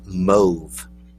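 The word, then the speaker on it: mauve: for that color is move it rhymes with Grove so it's move not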